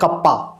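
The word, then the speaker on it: kappa: और ये के जो होता है इसका उच्चारण होता है कप्पा, इसको हम लोग पढ़ते हैं कप्पा।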